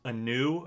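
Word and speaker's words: Ainu: Looks very, I think it's Anu, I think is how you say it. A-I-N-U.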